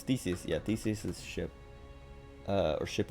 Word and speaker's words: Theseus: Because I remember I said it wrong. And he's like, no, it's Theseus.